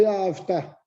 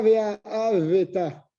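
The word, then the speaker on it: וְאָהַבְתָּ: Par exemple, Ve'avta. Tu ne dis pas Ve'aveta. C'est un chevanard, ça.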